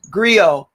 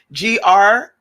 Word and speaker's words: griot: verse with all the light workers not creole griot how do you spell it g-r-i-o-t oh griot yes yes yes thank you thank